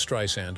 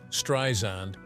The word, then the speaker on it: Streisand: z sound like in strand she says the name is actually pronounced correctly like this sand on the beach in 2016 after noticing